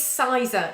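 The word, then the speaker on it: Sizergh: In Cumbria, I'm not quite sure how it's pronounced, actually. Sarah, you might know. It is Sizer. It is Sizer Castle, yeah.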